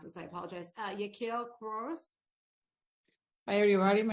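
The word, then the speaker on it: Yakeel Quiroz: And last but not least, I'm going to mispronounce this. I apologize. Yaquil Cruz. Hi, everybody. My name is Yaquil Quiroz.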